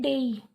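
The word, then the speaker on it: day: देखो आप इसको क्या बोलते हो, डे बोलते हो ना, लेकिन ये डे नहीं होता, इसको प्रोनाउंस ऐसे नहीं करते, इसको बोलते हैं डेई।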